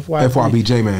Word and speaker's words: FYB J Mane: FYBJ man.